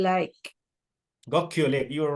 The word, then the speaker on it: Gokyo: So the next one, and I'm not sure if I'm going to pronounce this correctly, is Gokyo Lake. Gokyo Lake, you're right, yes.